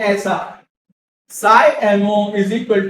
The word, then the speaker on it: psi: ये दिखा है, ये देखो, इसको बोलते हैं साई, PSI, P साइलेंट है, पसाई नहीं, PSI साई, क्या बोलते हैं इसको।